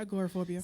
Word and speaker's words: agoraphobia: I was basically going to say, so is it agoraphobia? How is it pronounced? Yeah, agoraphobia.